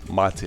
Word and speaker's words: MATE: care what you call it but officially it's pronounced mati I guess it's a T or some kind